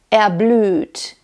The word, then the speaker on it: erblüht: other German diction videos, the R in German isn't normally pronounced when it's at the ending, like der, or when it's in the syllable of ER, like erblüht, mir.